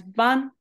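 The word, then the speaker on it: 板: So ita, when it's over here, it's pronounced as ban.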